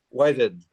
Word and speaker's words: Whitted: Whited. Oh, Whited. It's like the past tense of white. Okay. That helps. I was going to say whited, but then I kind